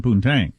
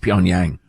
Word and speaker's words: Pyongyang: the dialects spoken in poontang uh i believe that's pronounced pyongyang when the new generations